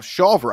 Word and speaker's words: Shawver: Shawver, I believe, is how the Rutgers 125-pounder pronounces his name.